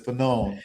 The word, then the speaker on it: Fanon: one of the top Fanon scholars. Fanon, sorry, I've been mispronouncing it.